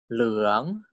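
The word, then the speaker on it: เหลือง: Default tone for live syllable is tone for leung, leung. Si leung means yellow.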